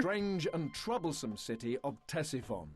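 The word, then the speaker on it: Ctesiphon: Strange and troublesome city of Tessifon. Tessifon. That's how you pronounce it.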